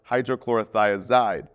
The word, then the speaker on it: hydrochlorothiazide: Potassium wasting ends in "ide, like furosemide or hydrochlorothiazide. Both rhyme with dried.